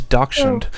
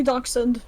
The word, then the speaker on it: dachshund: german dog anyways um who says doctrine i say dachshund um you said no you said doctrine yeah i mispronounced my man anyways um but